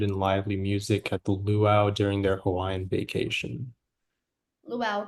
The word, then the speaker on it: luau: lively music at the Luau during their Hawaiian vacation. Luau. Can I please have the alternate pronunciation? Uh, it's just luau. There's only one.